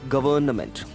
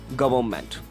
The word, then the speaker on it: government: or some of us we pronounce it like governament with the right way of pronunciation is here we go it is government I mean the n should be silenced here I mean we have to give mute the sound of n so it comes like government so let's move to